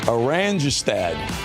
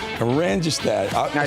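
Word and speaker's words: Oranjestad: Okay, you pronounce that city on the island. Orangestad. Orangestad.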